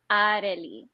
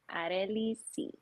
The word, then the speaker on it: Arley C: Okay, so the correct pronunciation is Arley. Arley C. Arley. Okay, so now you can pronounce my name.